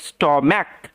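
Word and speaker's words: stomach: খেও না মাই স্টম্যাক এটার উচ্চারণ হচ্ছে স্টম্যাক ওকে সিএইচ এর উচ্চারণটা ক এর মত এগুলো আউট অফ রুলস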